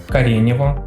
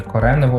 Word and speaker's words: Коренево: зокрема мова йде про поселення кареніво Чи коренево як воно правильно вимовляється російською мовою і вже збройні сили